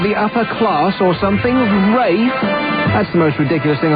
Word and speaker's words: Ralph: Rafe Fiennes. Where the hell does he get Rafe, for crying out loud? R-A-L-P-H is spelt Ralph, you idiot.